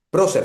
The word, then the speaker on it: Prosser: con la temática, pero ¿pronuncié bien tu apellido? Prócer, sí, estaba bien Ah, pronunciado.